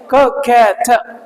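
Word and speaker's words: coquette: ककैट बोलो, ककैट, ककैटी नहीं है, ककैट, ठीक है ना, ककैट। इसको एक्चुअली ये क की आवाज नहीं है, देखो थोड़ा जो है ना आपका यूएस वाले ककैट ऐसे करके बोलते हैं, बट हम यूएस वाले नहीं, हम आपका यूके को फॉलो करते हैं, ब्रिटिश इंग्लिश को फॉलो करते हैं, उसमें ककैट बोला जाता है।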